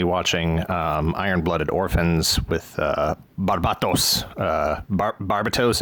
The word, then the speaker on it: Barbatos: Barbatos, I believe is how it's pronounced in the English dub.